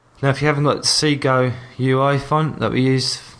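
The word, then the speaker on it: Segoe: that there let's see go let's see yeah see go it's pronounced okay so we've got ourselves downloaded of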